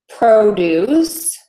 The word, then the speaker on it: produce: this isn't so boring if you have the word produce like the vegetables we would say produce produce so that first vowel and that stress syllable is going to be very long produce produce but if we use that same word as a verb produce then that second syllable is stressed and so that syllable